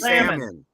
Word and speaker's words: salmon: the sea yeah I I want oh salmon Salamon Salomon it's salmon I say salmonella yeah say what Tiffany salmon